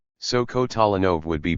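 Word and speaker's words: Kotolynov: In most parts of Russia, an unstressed O is pronounced as though it were a short A. So Kotalenov would be pronounced Catalino with stress on the third syllable.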